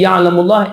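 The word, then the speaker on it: يعلم الله: So see, Ya'lamullah is a good example for both of the lams. La is the light pronunciation, tarqiq one, and Allah is the heavy one. So Ya'lamullah. This is the correct pronunciation.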